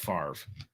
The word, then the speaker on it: Favre: these why is his why is his name pronounced farv when it's spelled favre i don't know i